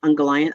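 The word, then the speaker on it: Ungoliant: is um unga angolian ungallant i don't don't know how it's pronounced um was a mic first of all christopher tolkien pronounced it like um he really stressed the last syllable in there's uh you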